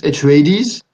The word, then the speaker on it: Atreides: I think they pronounce it Atreides in the film.